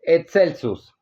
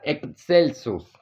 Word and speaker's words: excelsus: Araucaria excelsus. Araucaria excelsus. Recordemos que se pronuncia como e y k, que no lo traduce como alto o más alto.